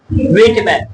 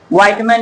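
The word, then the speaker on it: Whitman: Vault व्हिटमैन। कोई कोई आदमी इसको जो है व्हाइटमैन भी पढ़ देता है, लेकिन तुमको उच्चारण देख लो।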